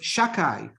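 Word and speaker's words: Shaddai: There's Shakai. Sha and Dai. Again, I'm not pronouncing it properly out of respect.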